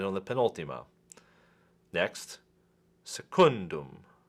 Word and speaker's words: secundum: the penalty mo next secundum secundum also accented on the penalty ma because it is